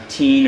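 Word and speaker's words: Tein: As for the shock absorbers, the car has Teen or Tane, however you want to pronounce it.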